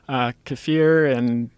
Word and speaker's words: kefir: Kefir and sauerkraut and kimchi have K2 in it. Is that how you say it? Kefir?